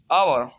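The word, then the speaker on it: hour: आठवां रूल है, अगर किसी लफ्ज में एच के बाद ओ यू आता है तो एच हमेशा साइलेंट होता है। जैसे आवर, आवर मीन घंटा, OUR, आवर।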